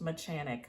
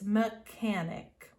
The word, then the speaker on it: mechanic: it might be pronounced mechanic but it's not it's mechanic like the ch is pronounced like a k mechanic all right number